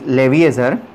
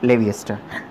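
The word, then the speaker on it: Lavoisier: scientist is Antonia Leviester, that is Leviezer, but I pronunciate it Leviester, doesn't matter, that is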